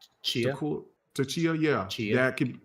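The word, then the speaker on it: Tchia: How you pronounce that little girl's name? Chia.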